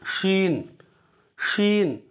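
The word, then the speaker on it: شين: இது வந்து இந்த சா உச்சரிப்பு வரணும். இதை எடுத்து வள இந்த ஷா ஷா உச்சரிப்பு வரணும். Scene ஷீன். இதில் வந்து நல்லா அழுத்தி சொல்லணும். ஷீன் ஷீன் அப்படின்னு சொல்லணும்.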